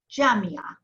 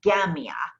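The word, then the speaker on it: جامعة: Yeah, especially the letter Jim, depending on who's saying it, depending on where they're from. Yeah. Egyptians will say gamia, and Lebanese jamia.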